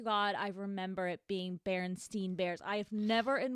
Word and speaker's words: Berenstain: And I even say Berenstain Bears. Well, apparently it's spelled with an A and not an E. So it's Berenstain Bears.